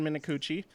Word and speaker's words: Minakuchi: And I was reading about Alaska Airlines' new CEO, Ben, let's see if I can remember how to pronounce this correctly, Minakuchi? Yes, Ben Minakuchi.